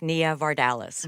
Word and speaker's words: Nia Vardalos: it's interesting because okay my name is pronounced Nia vardalas right and I get